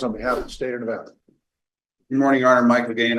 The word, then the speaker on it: Nevada: for the state of n nevana Nevada mispronouncing our state's name one month before Nevada